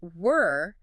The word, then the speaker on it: were: But were the past tense of are entirely different. Entirely. It rhymes with fur or her. It is a much shorter, tighter sound in the mouth.